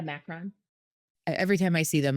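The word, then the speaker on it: macaron: Whenever I see a macaroon, no, I'm saying it wrong. What are they called? The Macron.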